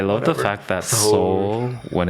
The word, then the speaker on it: Seoul: Soul, because no Korean would ever just say soul, right? They always say it like soul. Soul. Yeah. I tried so hard to say it like a real Korean, but I don't even bother.